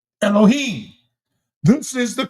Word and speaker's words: Elohim: This is the correct pronunciation of the word Elohim. Elohim.